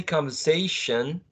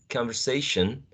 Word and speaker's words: conversation: by the way well we just say conversation conversation conversation with the schwa and if we do